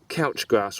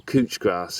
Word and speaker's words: couch grass: they they're a nightmare it's called couch grass or cooch grass depending on who you speak to as to how it's pronounced it's uh a voracious